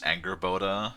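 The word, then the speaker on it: Angrboda: Funnily enough, closest to her name is Angerboda. That's how they pronounced it, yeah.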